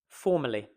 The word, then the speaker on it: formally: Okay, let's take the word formally. Formally. We are stressing the first syllable. Formally. Formally. Three-syllable word. We can ignore, this is great news, we can ignore these two.